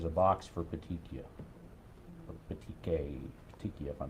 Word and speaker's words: petechiae: Or petechia, if I'm pronouncing it Petechiae? right. Petechiae.